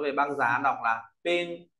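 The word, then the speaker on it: 冫: ta có bộ băng nói về băng giá đọc là ping p ping p lớp viết bộ chấm băng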